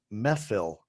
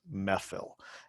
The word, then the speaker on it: Mehfil: to the brand new methyl restaurant that's m-e-h-f-i-l so i'm not sure i'm pronouncing that correctly or not looks like it's pronounced methyl and methyl is a indian